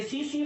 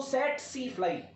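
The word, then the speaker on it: tsetse: रखिएगा, ग्लोसिना पेल्पेलिस ये सीसी फ्लाई है। हालांकि इसको अगर प्रोनाउंसिएशन में अगर सही तरीके से बोला जाए तो सेट सी फ्लाई करके कहा जाता है, ग्लोसिना पेल्पेलिस।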